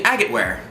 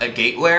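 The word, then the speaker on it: agateware: Do you like making agate ware? So when I first saw this, I pronounced it agate ware, and I'm pretty sure it's agate ware, just like agate rock.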